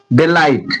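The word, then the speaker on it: delight: डेलाइट डिलाइट ये डिलाइट ये टी यूज़ में लिया जा रहा है।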